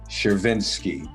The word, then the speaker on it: Chervinsky: institution published on Harvard University press Dr Lindsay shiriny is here with me am I pronouncing your name correctly yep that's great thank